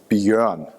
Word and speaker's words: Björn: when I speak English, but it's pronounced Björn. When I go to Starbucks, I usually call myself Brian. It's just easier. It can be spelled like that, and that is even more confusing. And it's actually not a German name, it's a Swedish name.